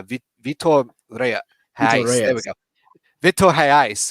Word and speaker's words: Vitor Reis: I think that's why the links to Reyes, the highly rated Vitor Reyes, yeah, Vitor Reyes. There we go. Vitor Reis, because it's a Brazilian Portuguese, so they pronounce the R a little bit different.